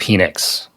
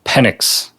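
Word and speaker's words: Penix: His name is not pronounced Phoenix. It's Michael Pennix.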